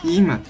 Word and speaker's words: Im: Ensuite, toujours à la suite, j'ai pris le tome 6 de Im ou Aim, ça dépend comment les autres prononcent. Moi je prononce Im parce que Imhotep, sinon voilà.